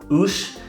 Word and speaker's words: Uais: One last note on the name, Uais. It's pronounced like O-O-S-H.